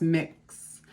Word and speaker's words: Mx: either ms or mr there's m x with the dots pronounced mix mix smith it's a way